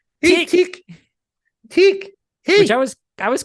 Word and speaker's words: Tick: somebody was like Hey Tech I'm like no you're pronouncing it wrong it's TI tick which I was I